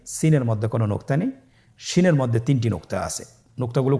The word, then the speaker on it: শিন: শিনের মধ্যে 3টি নোক্তা আছে। নোক্তাগুলো কোথায়? উপরে। কয় নোক্তাওয়ালা? 3 নোক্তাওয়ালা। তাহলে 3 নোক্তাওয়ালা সিনের আকৃতির 3 নোক্তাওয়ালা হরফটিকে আমরা কি বলবো? শিন।